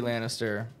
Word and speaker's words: Lannister: like so we'll put him there now seriously Lannister did I say it right yes you did